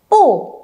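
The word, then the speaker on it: 不: Nhưng nếu đằng sau pu mà là thanh 4 thì mình sẽ không đọc là pu chi mà mình đọc là gì? Pu chi, được chưa nhở? Nhớ nhá, pu mang thanh 4 nhưng khi đằng sau pu cũng là một thanh 4 thì mình phải đọc thành pu, được chưa?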